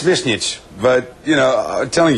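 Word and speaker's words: Višnjić: It's Visnjic, but, you know, I'm telling you, forget it.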